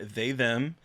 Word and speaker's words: They/Them: We have seen They Them, which is premiering August 5th. It's actually pronounced they/them. I got like 45 emails about it.